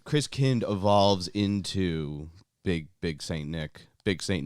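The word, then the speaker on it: Christkind: pronunciation of it but it's not Chris kind it's Chris kind-- King Christian because Kindt for German for child Christians is also the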